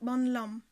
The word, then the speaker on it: បន្លំ: Lo va prendre la série de bo, puisque c'est une consonne faible. Et donc ce mot va se prononcer bonlam.